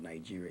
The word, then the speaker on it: Nigeria: Actually, the right pronunciation of Nigeria is Nigeria, not Nigeria. There's no J in the spelling of Nigeria. It's Nigeria, Nigeria.